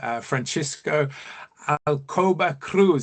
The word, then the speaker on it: Francisco Alcoba Cruz: It's Francisco Alcoba Cruz, and I know I probably really mispronounced that, No, you Francisco. didn't. You went quite right, I have to say.